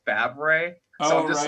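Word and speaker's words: Favre: is brett barb but his last name is pronounced fab ray oh this is like fabric yeah i'm just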